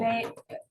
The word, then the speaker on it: vagal: Rhymes with bagel. Vagal.